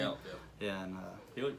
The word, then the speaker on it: Gallup: Gallup, yeah.